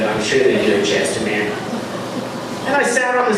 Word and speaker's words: Chestermere: Because I got about an hour and a half away from Red Deer to a place called Chestermere, which is rhymes with Red Deer.